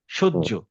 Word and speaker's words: সহ্য: তার মানে সহ্য। আমরা এই হ এর উচ্চারণটা করি জ দিয়ে, সহ্য।